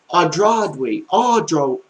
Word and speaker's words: aujourd'hui: Okay, now if you want to say the word today, it's aujourd'hui. Aujourd'hui. That it's got like 3 syllables instead of 2 like today.